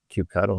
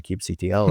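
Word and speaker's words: kubectl: I guess sadly, I won't miss people pronouncing it cube cuddle instead of cubectl like it's supposed to be.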